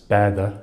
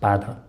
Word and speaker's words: baatey: Uh the word for boat, for example, is baatey in Manx, but the the system pronounced pronounced baada or something something like that.